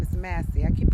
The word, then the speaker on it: Massey: Her last name is Massey. I keep pronouncing her last name wrong.